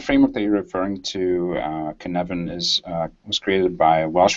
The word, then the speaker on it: Cynefin: Okay, so Cynefin, it's spelled Cynefin, and it's sort of like this grid of 4 different types of, I guess, complexity.